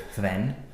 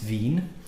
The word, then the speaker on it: Hven: called Spirit of fi um not Spirit of fen um as some people will probably try and pronounce it when they've seen the name but it's uh it's pronounced v um V is an island in the straight